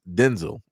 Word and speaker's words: Denzel: Like I said, uh Denzel Washington is not pronounced Denzel Washington. It's pronounced Denzel, which is crazy.